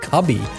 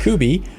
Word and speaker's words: Kuby: Kuby thank you Cameron pronouncing ing it sometimes was difficult I kept calling it cubby I don't know why but it sounded right so kooby an easy way to